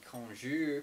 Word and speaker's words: cognac: then here with the konjour cognac I like to use the kind of like French pronunciation of it it sounds a little more